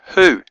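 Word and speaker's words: הוא: And the vav is a shurek, it's a u sound. So this is the word in Hebrew, who. So hey, shurek, aleph is the word who, which means in English he.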